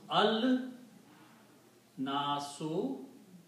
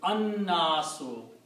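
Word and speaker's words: النَّاس: one, so it becomes al nasu, but again it will be, because of the noon, la will not be pronounced, it will be an nasu.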